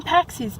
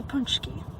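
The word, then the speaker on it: pączki: I don't remember offhand, but I always called them paccis because it's spelled Paczi. But no, correct pronunciation is a punchki.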